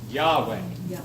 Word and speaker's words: Yahweh: name we cannot say we don't really know how to say it the best thing we can say in English his name is Yahweh Yahweh Yahweh the King James